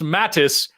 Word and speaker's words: Mateus: William Mateus sent $5 to say it's pronounced Mattis, and I'm still not going to pronounce it Mattis.